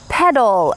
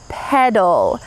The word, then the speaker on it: petal: Petal. Notice that in American English, this T changes to a D sound. Petal, petal.